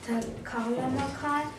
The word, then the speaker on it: Taklamakan: I pronounce Taklamakan and Gobi Desert.